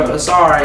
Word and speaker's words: Asar: his middle name initially, the real spelling for Asar is A-U-S-A-R. We dropped the U and just kept the A-S-A-R because it sounds kind of like a double entendre, is how you say it, to like ASMR, because I do ASMR.